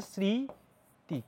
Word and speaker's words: স্মৃতি: একটা কোশ্চেন আমরা জানি ম ফালা শব্দের শুরুতে থাকলে সেটার উচ্চারণ হয় না কিন্তু একটা চন্দ্রবিন্দু থাকে যেমন আমরা যদি বলি যে তোমার স্মৃতি আমরা যদি বলি স্মৃতি